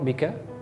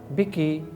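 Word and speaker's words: بكِ: Marhaban biki, not bika, biki, marhaban biki ya sadiqati.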